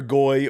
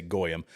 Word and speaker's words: goy: Anytime I say something that is pro-Israel, it's like, "Oh, you're a goy," or though they usually say it wrong, they say goyim.